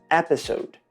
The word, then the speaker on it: episode: Episódio é muito parecido à grafia, só muda o final, mas a pronúncia é muito diferente. Episódio vira episode.